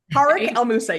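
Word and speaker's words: Tarek El Moussa: Like I hate that I mispronounced. I've always thought it was Tariq. So Tariq El Moussa, yes.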